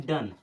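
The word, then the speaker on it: done: पढ़ेंगे डी ओ एन ई इसे पढ़ते हैं डन ये चार वर्ड ऐसे हैं जो हमारे इस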